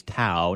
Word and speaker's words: Towe: He just reminded me correct pronunciation is Tao, not Toe.